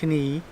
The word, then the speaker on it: knee: skip over it but the knee has a silent k but then we end up saying knee and um i say